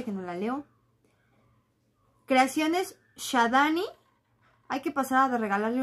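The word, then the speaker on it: Xadani: Y se escribe con X. X-A-D-A-N-I. Shadani. Creaciones Shadani.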